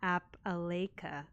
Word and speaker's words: Appalachia: The phonetic spelling as lash is gonna help me a lot.